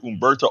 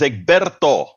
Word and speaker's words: Egberto: people mispronouncing my name they call me egberto Umberto Umberto my name is egberto egberto how many people